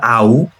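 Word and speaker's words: 会う: তাহলে আউ, আউ এর আ হচ্ছে এই কাঞ্জিটা মানে দেখা করা।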